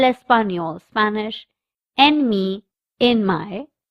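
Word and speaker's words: español: The third subject is el espanol Spanish. The n has a curly line on top so we pronounce it as nia.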